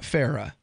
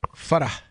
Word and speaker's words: Farah: It's not Farah, it's Farah. You're supposed to pronounce the H on the end. It's a hard H, and it means smile. If you say it the way that we all say it, and her parents, by the way, it means mouse.